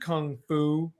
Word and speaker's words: kung fu: It's actually pronounced kung fu. Like Kung Pao. Kung Pao chicken.